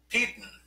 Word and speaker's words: Peden: Let's see, William Peden, and his name rhymes with Eden and Sweden.